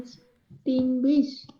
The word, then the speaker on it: extinguish: ई तो आप बोलोगे नहीं, एक्सटिंग्विश ही बोलोगे आप।